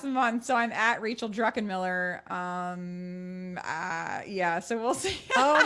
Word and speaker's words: Druckenmiller: So it's Druckenmiller, pronounced Druckenmiller, and Unmuted Life is your Insta, right?